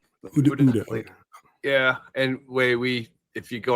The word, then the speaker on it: OODA: working on, which is how do you guys pronounce it properly? Is it ODA or ODA? Uda.